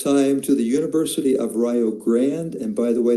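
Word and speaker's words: Rio Grande: to the University of Rio Grand. And by the way, that is the correct correct pronunciation in Welsh.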